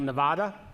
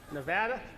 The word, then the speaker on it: Nevada: So now we'll move on to John Ralston talking about Nevada. I got it right? Nevada? Oh, sorry, it's the Smith. Nevada? Nevada.